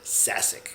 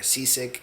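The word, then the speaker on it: Šašek: And my last name is Shashik. I pronounce it Sasic. You can say Sasic, whatever, Seasick, Catsick, Sajak. I've heard it all.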